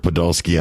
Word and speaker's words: Podolsky: the exact same thing today we've got Podolski on the did I pronounce that right you did you know